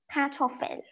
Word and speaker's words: Kartoffel: Kartoffel. Kartoffel means potato. You pronounce it as C-A-R, kartoffel. You know you fell down the fell?